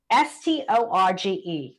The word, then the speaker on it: storge: It's Storge. It's pronounced storge.